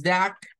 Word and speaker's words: duck: en medio de consonantes por eso vamos a pronunciarlo como da se escucha como una a pero termina siendo una u entonces diríamos this Duck is Yellow this du